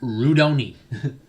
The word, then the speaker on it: Rudoni: slightly um alter pronunciations instead of jack redone it's jack rudoni alexander actually that's just